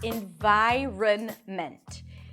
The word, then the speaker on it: environment: So the first pronunciation is environment. This pronunciation is more aligned with the spelling. So let's break it down. The first syllable is in, lacks I, and then an N, in. Then vi, a V sound and the long I as in my. That's also the primary stress. So this syllable is going to be longer, louder, and higher in pitch.